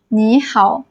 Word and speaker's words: 你好: You need to change the first third tone into second tone. That is a rule for you. So, you going to be pronounced as "nǐ hǎo", "hello".